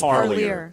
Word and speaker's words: Parlier: I believe it's Parlier. Parlier? That's what the family said.